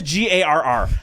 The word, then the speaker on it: Garr: get better you know they used to pronounce my name hey welcome to Stage Ken gurr I'm like my name is g-a-r-r how do you possibly get there you know what happens